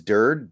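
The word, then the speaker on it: Durde: um so you know is it I always say it wrong it's dird or dirty I say it wrong uh I guess it is I guess it is dird but I'm getting conflicting information my comments tried to tell me it was dird I'm just gonna call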